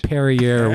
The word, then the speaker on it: Perrier: It's Perrier, very pretentious, just like you.